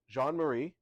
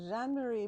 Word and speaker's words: Jean-Marie: I am joined by Jean-Marie. Yes, did I pronounce it correctly? Yes, you did. Please give us your full name and your official title here at Canyon Ranch. I'm Jean-Marie, and I lead our spiritual wellness here